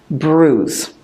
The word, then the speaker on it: bruise: pronunciation of that word it sounds very different from the way it looks Bruce so football for me